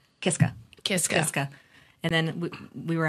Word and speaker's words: Kiszka: Kiska is common or when I when I take on the stage persona of Papa kishka mm-hmm that's more proper polish way to do it so so it was